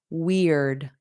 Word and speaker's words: weird: Weird. Eared. So we have ear, and then you put a D on it. Eared. Eared. Eared. But then you add a W at the beginning.